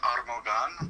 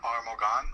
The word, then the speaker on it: Armogan: The actual way you say it is Armogan, but most people just call it Armogan or Morgan.